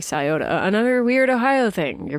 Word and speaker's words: Scioto: the Scioto River, which is spelled like Scioto, but said like Scioto.